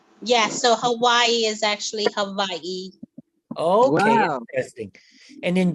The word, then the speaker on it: Hawaii: like a V oh in Hawaiian they pronounce the W like V yeah so Hawaii is actually Hawaii and